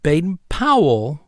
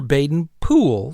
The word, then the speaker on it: Baden-Powell: or something so um bayen Powell or bayen po same person so regardless if you go by the English pronunciation or the Americanized pronunciation now bayen pow bayen